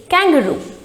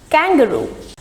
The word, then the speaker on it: kangaroo: pronounce it kangaroo no we are not supposed to stress at the middle slivers rather the stress is on the first syllabus syllable that is kang and the pronunciation is kangaroo kangaroo there are many kangaroos